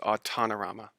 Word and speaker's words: Autonorama: second book title right you you just say autonomous plus futurama and so that becomes autanorama oh tanarama i had